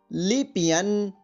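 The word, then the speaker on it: 里边: अब इसका ध्वनि वादन सुनिए, लिपियन लिपियन लिपियन।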